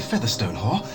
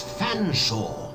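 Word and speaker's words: Featherstonehaugh: Featherstone Haw, I presume? I can't believe it. Nor can I, sir. I don't believe you cannot pronounce my name properly. It's Fanshawe.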